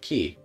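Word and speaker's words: き: But you pronounce it Ki.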